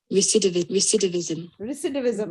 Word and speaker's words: recidivism: Recidivism Recidivism. ये recidivism है, RE, okay? Yes. हाँ, recidivism, और pronunciation में I की आवाज है, E की नहीं है।